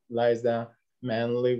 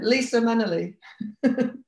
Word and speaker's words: Lisa Munnelly: and we have artist Liza Munnelly with us from New Zealand. Did I pronounce it right? Mangled it, totally. No? Munnelly. It's a, yeah, Lisa Munnelly.